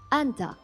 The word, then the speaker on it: Anda: Yes, but faster—it’s pronounced "Anda." You shorten the ending, like "Anda."